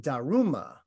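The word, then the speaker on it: 達磨: this was the damo well in japanese these two characters are pronounced daruma and indeed daruma is how you say dharma in japanese but that's transliterated that's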